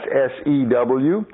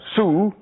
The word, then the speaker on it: sew: When ladies sew, that's S-E-W, but we don't pronounce that sue. Women don't sue when they make a dress. They sew.